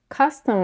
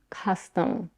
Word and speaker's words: custom: piercing the word food custom on the other hand has two completely different vowels the first one ah is the same vowel that is used in the word cup and the second one is a schwa A reduced vowel that appears in most non-stressed syllables to practice you can take a mirror and watch your lips costume custom costume custom